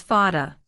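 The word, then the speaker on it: Vater: But in most words it's pronounced just like English F. Here is an example. Father is pronounced as fada.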